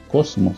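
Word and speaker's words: κόσμος: la palabra ahí es la palabra griega que más o menos se pronuncia Cosmos Entonces ya cuando hablamos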